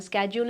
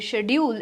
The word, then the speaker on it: schedule: होगा, जो शेड्यूल होगा, दोनों प्रोनाउंसिएशन सही हैं, एक ब्रिटिश है और एक अमेरिकन है। स्केड्यूल is American pronunciation and शेड्यूल is British pronunciation.